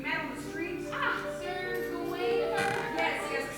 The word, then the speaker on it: Gawain: Sir Gawain. Yes. Some pronounce it Gowan. If they are Irish, Scottish, Gaelic-ish. Not me.